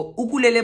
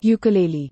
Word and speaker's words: ukulele: यस इट्स अ हवाई instrument, सो हवाई में तो इसको उकुलेले बोलते जो ओरिजिनल नाम है, लेकिन गूगल प्रोनाउंसिएशन कहता है कि यूकुलेली भी कहते हैं।